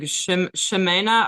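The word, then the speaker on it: Ximena: It's like a sh sound. Like shimena or Arias.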